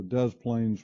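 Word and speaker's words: Des Plaines: see this is a large Park along the Dez plains River it's actually how it's pronounced the smaller areas that we see here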